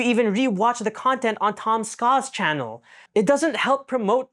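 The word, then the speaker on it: Tom Scott: SCA in any way it's just two syllables bro Tom SCA Tom SCA Tom SCA then I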